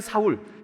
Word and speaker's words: 사울: 바울은 사실은 똑같은 말이에요 하나는 히브리 씩 발음이 고요한 않은 헬라 식 바랍니다 히브리 식으로 읽으면 사울 헬라 식으로 읽으면 바울이 예 줄도 똑같은 마음 제가